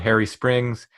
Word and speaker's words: Hairy Springs: was taking us to a place called Harry Springs to note it's spelled H AI R Y we still don't know why I've spelled that way but let's go ahead